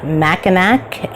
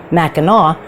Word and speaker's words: Mackinac: Mackinac Island today in Michigan I have been pronouncing this Mackinac and I finally reached out to Shannon and said how do I pronounce this because I've heard it pronounced Mackinaw and she said that's how it is pronounced